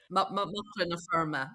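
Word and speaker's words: Macra na Feirme: But how do you pronounce the Young Farmers Association in Ireland? Muckler na firma, but yeah, it means it's Irish for young farmers.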